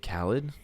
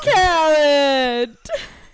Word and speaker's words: Khaled: DJ Khaled. DJ Khaled.